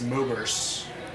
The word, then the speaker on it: Moburst: So my name is Oberst, and my account is Moburst, like with a U instead of an E, because it's like phonetically the same.